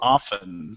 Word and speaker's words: often: Well, you you pronounce the T and the that's silent and often.